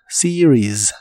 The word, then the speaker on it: series: palabra series en inglés no lleva ningún sonido e sino que se pronuncia con una I corta y la segunda es una I larga para terminar con la